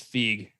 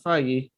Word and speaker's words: Feig: I think it's Feig. Is it Feig? Paul Feig? I kept thinking Feige. I was like, no, not Feige. Feig. We'll say Feig.